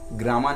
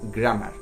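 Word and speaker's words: grammar: এই যে গ্রামার বলছি, অ্যাকচুয়াল প্রোনাউন্সিয়েশন কিন্তু গ্রামার নয়, গ্রামার।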